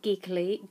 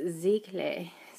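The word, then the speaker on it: giclée: how to say it not geekly geek geekly like i'd like to say but it's ziegler ziegler um um that are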